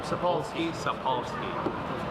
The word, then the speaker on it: Sapolsky: Sapolsky.